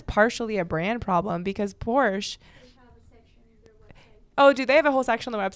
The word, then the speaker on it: Porsche: the the thing that's funny though about the Porsche vers Porsche is I just think that's such a great